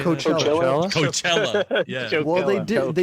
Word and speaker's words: Coachella: That was that was a big thing in Chocella or 2016. Choke. What? How do you say Coachella. that? Coachella.